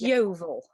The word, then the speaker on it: Yeovil: And how do you pronounce that? It's Yeovil.